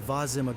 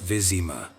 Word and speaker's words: Vizima: mortal sitting in the Vazima Garden, blast that fool. He is incredibly hard for the early game. Skill issue Lambert. Also, it's pronounced Vizima, you miserable oaf.